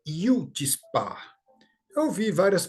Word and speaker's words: chutzpah: europeus e diz né então a pronúncia correta é Yudi Spa eu vi várias pronúncias